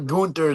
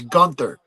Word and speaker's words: Gunther: I think every when he was saying when everybody was saying gther, everybody was like, he was probably like, "No, it's not gther, it's Gunther because I mean, I think the proper German pronunciation is definitely 100% ga or ga."